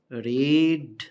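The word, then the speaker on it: read: রিড হচ্ছে present, রেড হচ্ছে past, past participle হচ্ছে রেড। উচ্চারণ আলাদা এবং বানান একই, এটা হচ্ছে V1, এটা হচ্ছে V2, এটা হচ্ছে V3। রিড, রেড, রেড, উচ্চারণ আলাদা, বানান একই।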